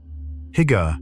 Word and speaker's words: hygge: The Scandinavian practice of hygge is built around warmth, soft light, and the deliberate creation of cozy shelter. Hygge, pronounced roughly "hoo-ga", is a Danish and Norwegian concept that describes the art of creating intimacy and comfort.